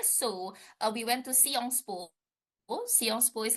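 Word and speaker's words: Sciences Po: p o well actually we maybe as an English education we say it as Science school but it turns out they spell it as like seong spool and in seong spool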